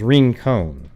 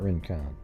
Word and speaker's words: Rincon: it'd be kind of so it's ring cone okay yeah well isn't that what i said at the beginning rincon i just thought it may be a little bit more fancy and i wasn't saying it right yeah it's not rincon after friday's discovery in